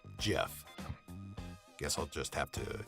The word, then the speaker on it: GIF: is a gift or jiff you know I've heard the creator of the gif format pronounces it Jeff guess I'll just have